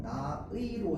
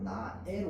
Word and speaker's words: 나의: 얘도 의로 발음하는 게 원칙인데요, 애로 발음하는 것도 허용합니다. 조사입니다. 조사. 그래서 나의는요, 나의로 해도 되고 나애로 해도 됩니다.